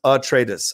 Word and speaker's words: Atreides: Hey, Roka, Atreides is pronounced Atreides.